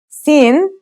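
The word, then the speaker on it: سين: for us those are sin and shin let's start with scene scene sounds just like the English s it's very easy to pronounce let's see how it's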